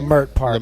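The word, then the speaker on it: Leimert Park: Lamert Park, Lamert bro.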